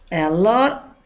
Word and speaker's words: a lot: Y si se fija, si digo simplemente a lot, se pronuncia la T. Pero cuando lleva en el contexto de una frase, regularmente esta T suena más bien como R.